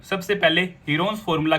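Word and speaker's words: Heron's: सबसे पहले हीरोन्स formula की मदद से हम इस ट्रायंगल का एरिया फाइंड आउट कर लेंगे। हीरोन्स फॉर्मूला आपका चैप्टर 9 है क्लास 9th का, जिसकी एक्चुअल प्रोनाउंसिएशन है हिरंज फॉर्मूला।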